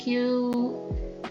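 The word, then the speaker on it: queue: sini ada stack array Q link list ya Ini bacanya q ya Q dan link list kira-kira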